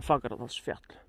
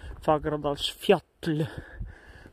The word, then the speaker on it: Fagradalsfjall: You see, in Icelandic, fjall means mountain, but you write it with double L, so you pronounce it as T-L. Fagradalsfjall, not Fagradalsfjall. They like double L. It's pronounced as T-L in Icelandic.